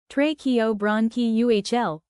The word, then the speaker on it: tracheobronchial: Our trachea, bronchi and bronchioles, small airways, make up our tracheobronchial, pronounced tracheobronchial, tree.